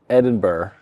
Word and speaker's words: Edinburgh: be here in the word I pronounce incorrectly the most of Scotland's capital, Edinburgh. That's all right. Did I do it right? That's good, yeah.